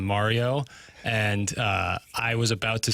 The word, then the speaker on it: Mario: And Tim said, I remember it vividly, he said, it's more of a long A on Mario.